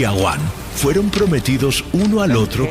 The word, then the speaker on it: Awan: El nombre de la esposa de Caín era Awan, A-W-A-N. En hebreo, Aven. Se pronuncia Aván.